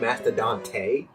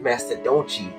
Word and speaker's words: Mastadonte: question the Senpai and it's pronounced the black Master doni cuz I want it to be grammar